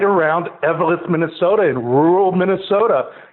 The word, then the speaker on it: Eveleth: Hall of Fame Museum is in is it Eveleth, Minnesota? Is that how they pronounce it? Yeah, Eveleth, Minne- Eveleth, Minnesota, which is uh north of